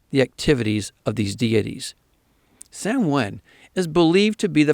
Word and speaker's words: Samhain: It was called Samhain, though it's spelled as Samhain.